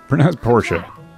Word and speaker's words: Portia: So everyone is confirming to me that it is in fact pronounced Portia.